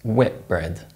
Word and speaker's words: Whitbread: Other brands which are assimilated include the hotel company Whitbread, which is actually pronounced Whitbread.